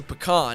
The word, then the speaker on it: pecan: Hole p number one it's not a can that you pee in it's a pecan and if you have